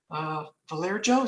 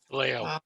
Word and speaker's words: Vallejo: This was the first time I used Valerjo, is that how you pronounce it? Vallejo.